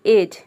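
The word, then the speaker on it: edge: से समझते हैं देखिए एज ई का हो जाएगा ए डी यहां पे साइलेंट है जी का हो जाएगा ज और ई वर्ड के अंत में आया है तो ये भी साइलेंट है एज का मतलब होता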